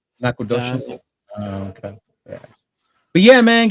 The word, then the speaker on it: Nacogdoches: How would that help me pronounce it? It's the same spelling. Nacogdoches. Nacogdoches.